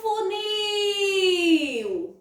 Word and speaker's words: funil: Olha o funil! Qual é a sílaba que eu estendo mais o som? É o nil. Isso mesmo. Então, ela vai ser a minha sílaba tônica, tá certo?